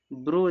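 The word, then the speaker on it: brew: टी एच आए तो ई डब्ल्यू का उच्चारण बड़ा उ होता है।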